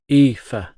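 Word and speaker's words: Aoife: It's pronounced ea. Shrugging, I added. It's basically Eva in Irish.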